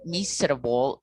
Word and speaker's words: miserable: In this case, the silent syllable in English, the word miserable, silent number 3, miserable, miserable, vegetable is vegetable.